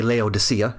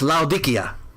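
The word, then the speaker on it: Laodicea: 250 year old council building unearthed in Turkey as uh well we say Leodysia in English but it's Laudikia uh is probably the right way to say it.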